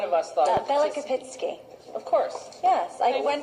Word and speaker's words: Belokopitsky: pronounce it, but none of us thought it was Belokopitsky.